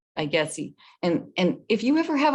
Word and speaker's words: IGETC: We have IGETC, that's how you say it, IGETC.